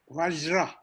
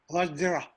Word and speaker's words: Vajra: What would be the kind of, closer pronunciation of Vajra? Vajra. Vajra.